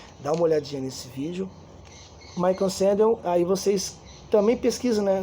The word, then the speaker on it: Michael Sandel: Ele é um professor universitário da faculdade de Harvard, uma pessoa muito conhecida, Michel, se escreve Michel, Michael Sandel, mas se escreve Michel, aí Sandel é S-A-N-D-E-L, Michael Sandel, tudo bem?